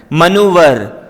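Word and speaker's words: maneuver: तिकड़म या फिर पैंतरा देखिए इस वर्ग को आपने सही तरह से उच्चारण करना है मनोवर मनोवर तिकड़म या पैतरा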